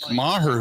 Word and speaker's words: Maher: At least that's it's Brett Maher. That's how you pronounce it, Maher. Maher, yeah, that's at least the report is that no longer with the company.